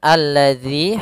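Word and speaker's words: الذي: Kemudian alladzi hati-hati dalam pelafalan zal di sini ada huruf dalal bukan huruf zai ya.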